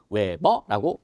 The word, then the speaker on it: Wb: 자속은 동그라미하고 찍하고 읽을 때는 뭐라고 읽어요? 파이. 자, 그다음에 단위는 WB라고 쓰고요. 읽을 때는 외버라고 있습니다.